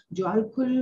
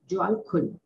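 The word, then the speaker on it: Djwal Khul: Alice बेली, उन्होंने ज्वाल खुल से कनेक्ट हुई थी, उनको शॉर्ट फॉर्म में डीके बोलते हैं। ज्वाल खुल हम बोल रहे हैं पर उसकी स्पेलिंग क्या है, DJWALKHUL, ज्वाल खुल, उनसे वो कनेक्ट हुई।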